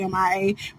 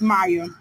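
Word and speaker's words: M.I.A.: Well, they say her name is M-I-A. That's how you do it. It's supposed to be M-I-A, but I'm country. I put it together. It's Maya.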